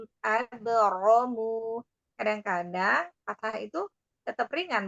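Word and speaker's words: أبرموا: Nanti pengucapan rok fathah itu lebih terangkat lagi. Abro gitu. Abromu.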